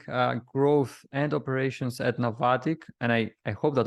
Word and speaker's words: Navattic: you are leading uh growth and operations at novatic and i i hope that i pronounced it correctly yeah you got it yeah